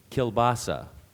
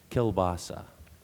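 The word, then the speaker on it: kielbasa: rip right through them keilbasa Al also kelasa kelasa or keilbasa primary def pronunciation is kelasa keilbasa may I have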